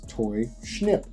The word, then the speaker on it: Toy Schnip: So, in the case of Toy Schnip, that was so strange I had to ask them how to say it, and they told me it was Toy Schnip.